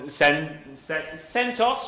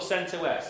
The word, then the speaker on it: CentOS: that bigger uh basically you pretend that you're Centos or Cent West how do you pronounce it both okay Centos I like that